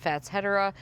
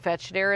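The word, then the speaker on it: Fatsia: is fat shedera Angar probably the correct pronunciation of fatsa I think fetched a is more fun to say so that is what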